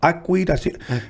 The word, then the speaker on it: Akwid: She gave me the CD, and I saw Akwid, and I remember the way she pronounced it. It's Akwid.